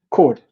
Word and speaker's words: Coard: So, you know, And Bernard Bernard, how do you pronounce his surname? Coard.